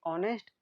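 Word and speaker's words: honest: हमारा एन एंड ए, क्योंकि ऑनेस्ट इसमें एच साइलेंट है तो एन, फिर यूजफुल में यू साउंड तो ए।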